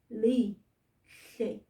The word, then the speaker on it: lihle: Yebo mngani, lihle, lihle. Let's put it on the board. Mngani, repeat after me. Namhlanje izulu lihle. Very, very good mngani. Always remember that HL sound, that's how we make the sound.